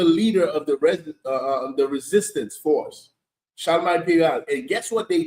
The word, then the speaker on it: Charlemagne: How you pronounce the name? Charlemagne. Charlemagne.